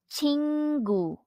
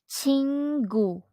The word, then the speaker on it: 친구: object noun friend or in Korean it is pronounced as chingu chingu and next we have the object noun friend